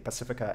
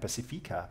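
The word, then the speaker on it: Pasifika: which we pronounce the pacifica and pacifica uh tegan is using the auckland pronunciation and i'm using the wellington what does that mean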